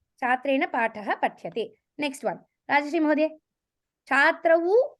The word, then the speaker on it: पठ्यते: Patyate, not patyete. Patyate. Patyate. You have to be very careful in the pronunciation because if you say patyete, it becomes dvivachanam. So it is patyate.